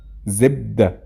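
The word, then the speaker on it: زبدة: Zibda. Zibda means butter. By the way, in Fusha, it's pronounced zubd.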